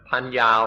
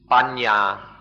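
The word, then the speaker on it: paññā: This word in Pali, or panya, or in the Thai pronunciation, panya, has two parts, pa and ya, pa, ya.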